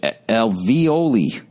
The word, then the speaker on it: alveoli: For both men and women, breast tissue contains hollow cavities called, oh, God, I can't read this shit, alveoli. Pronounced alveoli.